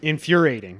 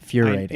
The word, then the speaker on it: infuriating: I think you missed the syllable the first time. Infuriating. That's fine to say it like that. You don't need the other I. That's what I said. No, it's infuriating, not furiating. Infuriating. There you go. It was a schwa sound, Continue.